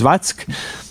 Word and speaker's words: Zwack: And again, the sort of conclusion, the concluding statement is by another General Zwack, Z-W-A-C-K, which I pronounce as Zvatsk.